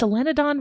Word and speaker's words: solenodon: Is selenon right? It is right. Yes.